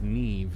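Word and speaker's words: Niamh: may call me Neve so her name is pronounced Neve you shall be witness to a fable pay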